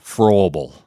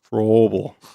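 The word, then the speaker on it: Fröbel: How do you pronounce that O with the two dots on top of it, Paul? You took German. Yeah, it's like a long vowel. You said pretty well. Froebel. Froebel.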